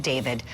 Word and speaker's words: D4VD: Um this guy's real name is David Burke even though he spells it weird as an artist. D4 VD. He pronounces it David.